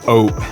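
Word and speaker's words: Aoo': Like even the simple word of oat, which means yes, oat, kind of like saying oat, but without the T, like oats, like oatmeal, without the T, it's just oat.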